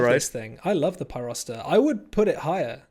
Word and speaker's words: Pyrocitor: How do you pronounce this? Pyrocitor.